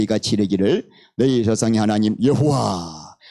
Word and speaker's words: 여호와: 그래서 어떻게 했는가 하면은 아도나이에 아오아가 있죠. 모음. 그거를 붙인 거예요. Y에다가 R을 붙이고 H에다가 O를 붙이고 여호와 이렇게 된 거예요.